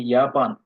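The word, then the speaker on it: Japan: যেমন জাপান, জাপান যদি বলি তখন হবে ইয়াপান।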